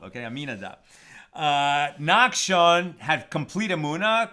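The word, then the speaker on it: Amminadab: happen nakad had trab I always say his name wrong uh aminadab okay aminadab uh nakon had complete amuna complete faith in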